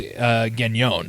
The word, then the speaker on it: Gagnon: The reality of the pronunciation, though, is Gagnon, if you were to do it French.